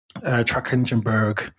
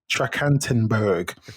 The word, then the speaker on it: Trachtenberg: So that director is Dan Trachtenberg. I just totally pronounced that wrong, but it's something. It's Dan Trachtenberg.